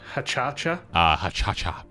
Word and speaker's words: hacha: happening that's cool um it's pronounced hacha the h is invisible this is uh dan's